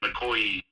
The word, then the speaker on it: Makoyii: And so that's why, like, sometimes you'll see, like, Makoyii has two eyes at the end, and that's just to kind of, like, phonetically go, oh, that's, like, the E sound in police. Like, okay. So, like, it's rather than just being, like, a sharp E, it's like an E, like, Makoyii.